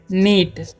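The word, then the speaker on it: knit: silent है ठीक है उसी तरीके से के एन आईटी है तो हम उे पढ़ेंगे नीट ठीक है और के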